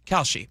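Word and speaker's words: Kalshi: Khi Khi, how do you pronounce that? Khi. Uh Kelsey Kelshi.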